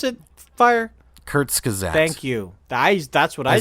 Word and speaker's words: Kurzgesagt: One's from Kurskagau. I can't. How do you pronounce it? Fire? Kurzgesagt.